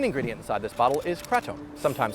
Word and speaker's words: kratom: The main ingredient inside this bottle is Kratom, sometimes pronounced Kratom.